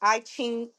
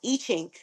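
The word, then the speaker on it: I Ching: These gates correlate to the Chinese IQing system, excuse me. So it's pronounced Iching.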